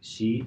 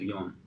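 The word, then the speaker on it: 四: 2 ways to pronounce number 4 in Japanese actually, like she and also yon.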